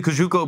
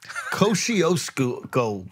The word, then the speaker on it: Kosciuszko: Because right now I see the Kajuko Bridge and I don't know if that's close at all to the airport. Kosciuszko.